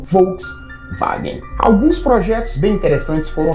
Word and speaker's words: Volkswagen: do povo ou basicamente Como se pronuncia em alemão Volks vagen alguns projetos bem interessantes